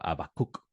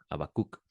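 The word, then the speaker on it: Habacuc: Incluso cuando lees a el libro de Habacuk, eh, profeta Habacuk, que es su nombre hebreo, Abacuk, no se no se pronuncia la la H, Abacuk, eh, usted lee ese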